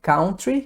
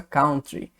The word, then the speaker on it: country: Brasil Ok então é uma dica de pronúncia né você vê que não é Country igual brasileiro costuma dizer né música country music né Lógico que é um outro é um outro sentido mas a pronúncia mesmo tá então é Country bom tem como ser